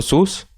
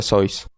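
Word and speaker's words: Seuss: y no deberías regocijarse si lo estás llamando sus él lo pronuncia sois nosotros intentaré interpretarlos mejor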